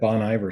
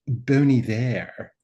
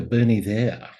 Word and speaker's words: Bon Iver: I'm like, oh, Boney there. Anyway, it's a dude from Eau Claire, Wisconsin, Justin Vernon. Actually, kind of a cool story, though. The name comes from Good Winter in French, Bon Iver.